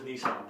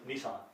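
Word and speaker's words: Nisan: That is Nissan, believe it or not. That's exactly, that is how they pronounce it in Hebrew, too. Seriously. It's Nissan.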